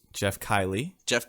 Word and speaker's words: Geoff: Dude, okay, I just want to say, you pronounced Geoff, Geoff. It's always been Jeff, bro.